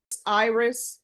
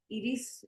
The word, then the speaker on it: Iris: Is it Iris or Iris? It's Iris. Iris? Iris in Spanish, but it's Iris.